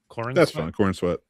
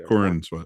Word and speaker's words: Corenswet: Uh, then Brandon Routh Routh, whatever how you pronounce it. Um David Corenswet, uh, how do you say his name? Corenswet. Yeah. Corenswet.